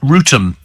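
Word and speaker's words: Wrotham: there uh we have Ram in Kent says Steven Maidstone pronounced rotum yes my my pronouncing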